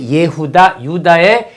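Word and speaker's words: יהודה: 유다, 원래 히브리 발음은 예후다.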